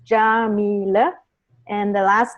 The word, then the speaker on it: Yamile: Oh more people so my name is jamila that's how you pronounce it I guess all of you wondered about that except for Louise she already knows but um it's jameelah and the last name